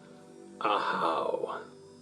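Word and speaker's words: Ahau: UK attacking pronunciation and your glyph is ahao and that's also the yucatecan pronunciation so how is the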